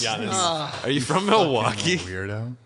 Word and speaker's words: Giannis: It's pronounced Giannis. Giannis.